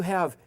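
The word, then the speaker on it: הַ: it must be ahead no it's not a hat it's an H it's a hey so again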